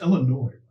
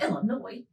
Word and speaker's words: Illinois: It's Illinois. What did I say? What did I say? It's Illinois. A lot of people so the say S Illinois. is not pronounced? S is not pronounced.